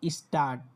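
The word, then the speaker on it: Stadt: তারপর দেখেন ডেটে, তখন ডেটে যখন একসাথে থাকে তখন টয়ের মতো উচ্চারণ দেয়। এই দেখেন স্টার্ট।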